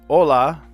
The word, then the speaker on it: hola: Hola. Uh, you would say hola in Spanish, too, but you would add an H, silent H to the beginning.